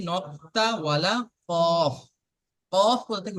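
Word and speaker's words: ق: 4 নম্বর মাখরাজে আছে, আহ 4 নম্বর মাখরাজ জিভের গোড়া এবং তার বরাবর উপরের তালু সাথে লাগিয়ে উচ্চারিত হয় 2 নক্তাওয়ালা কফ।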